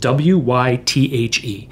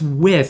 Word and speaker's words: Wythe: So Withe is named after George Wythe, and it's spelled W-Y-T-H-E. And I'll constantly have people say to me, oh, I heard I should live in Wythe, is it? And I'll say, no, it's Withe.